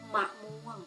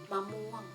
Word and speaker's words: มะม่วง: เห็น ไหม คะ ว่า มี สัญชนี ประสม อยู่ ตรง ที่ พยางค์ น่า จะ อ่าน ออก เสียง เพียง แค่ เครื่อง เสียง เท่า นั้น ค่ะ ดัง นั้น ทั้ง คำ นี้ จะ อ่าน ว่า มะม่วง มะม่วง นะ คะ มะม่วง ต่อ